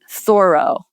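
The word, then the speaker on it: Thoreau: There's a literary reference to, let me try to say it right, thorough. That's what you're supposed to say.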